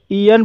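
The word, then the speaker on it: aeon: ईन ए ई से शुरू हुआ है, इसलिए यहाँ पर ए ई का उच्चारण ई हुआ है, इसलिए इसे ईन पढ़ा जाता है और ईन मीन्स होता है युग।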